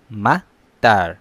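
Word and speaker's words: مطار: মাতার, মাতার, মাতার অর্থ এয়ারপোর্ট। অবশ্যই খেয়াল করছেন হয়তো, একটা শর্ট সাউন্ড, একটা লং সাউন্ড। শর্ট সাউন্ডের যেটা মাতার, এটা অর্থ বৃষ্টি।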